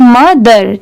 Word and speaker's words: mother: बाकी पढ़ते टाइम सिर्फ मदर. ठीक है, यहाँ पर O की साउंड बिल्कुल नहीं आ रही है, इसलिए ये पता चलता है कि O लेटर साइलेंट है.